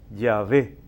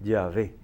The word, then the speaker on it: Yahvé: Ahora, los estudiosos son casi concordes en que la pronunciación de ese tetragrama o 4 letras sería Yahvé, con una H intercalada se escribe y se pronunciaría aproximadamente Yahvé.